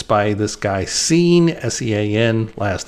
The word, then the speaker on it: Sean: This guy, he spells his name S-E-A-N. He doesn't pronounce it Sean. He says Scene.